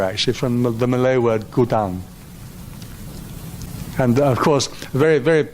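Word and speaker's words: godown: that word was pronounced God own right but of course it's not it's pronounced go down right and it's a word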